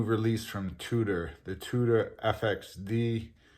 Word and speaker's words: FXD: from tudor the tudor fxd well i've also had it pronounced the tudor fixed which is tudor's collaboration